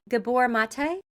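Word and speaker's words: Gabor Maté: Do you know, and I don't know if I'm going to say his name name right, Gabbor Mate?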